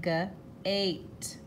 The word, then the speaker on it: gate: I see the cage and a, making the A say A, gate, gate.